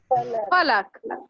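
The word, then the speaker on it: फ़लक: लेकिन जब यहाँ नुक्ता इसमें लग जाएगा तो ये क्या हो जाएगा? फलक।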